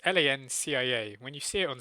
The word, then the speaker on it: Lancia: see it on it's Lancia. When you see it on screen, you think it is Lancia. That's how yeah. phonetically you'd think it looks like. But yeah, no, the Cia is Chia instead.